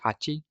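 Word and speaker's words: はち: Well, we can say that maybe you know that 8 in Japanese, it's pronounced hachi, hachi, and hachi begins with the sound of the katakana ha.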